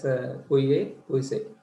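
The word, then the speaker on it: Pouilly-Fuissé: This one pronounced as Puye Puise.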